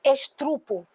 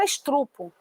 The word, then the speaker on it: estupro: dias muita gente diz estrupo ocorreu é estrupo na minha rua não é um estupro não existe Weber estuprar a palavra é estupro suplar estuprador não é